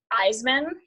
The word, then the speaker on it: Isaman: And then under my personal name, which is spelled like Joplin, my last name is Isaman, which is spelled is a man, Isaman.